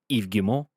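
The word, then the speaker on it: Yves Guillemot: in the interest of shareholders so ubisoft ceo eve gilmore uh has commented that's how you pronounce by the way it has commented on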